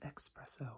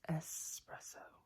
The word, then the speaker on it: espresso: A lot of people pronounce it espresso, which is understandable. But it's espresso. I gotta get that S in there.